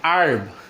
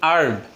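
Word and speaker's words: herb: আমেরিকানরা উচ্চারণ করে হচ্ছে আর্ব, আ সাউন্ড থেকে। আবারও বলছি আর্ব, আর্ব।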